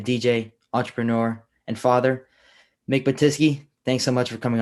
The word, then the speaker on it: Batyske: Today, we have DJ, entrepreneur, and father, Mick Batyske.